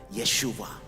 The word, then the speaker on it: Yeshua: issues that's his name the name jesus in the hebrew language is pronounced like that yeshua let us continue to